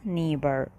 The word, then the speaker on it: neighbor: طبعا هنا GH silent مش بيتنطقوا neighbor.